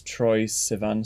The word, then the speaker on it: Troye Sivan: I got obsessed with this Troye Sivan song.